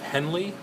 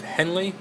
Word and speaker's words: Henle: this are area is called the loop of Henley and Henley is spelled h nle e so that's the loop